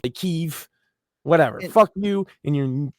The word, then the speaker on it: Kyiv: Or Well, now and like it's not Kiev anymore. It's like Kyiv.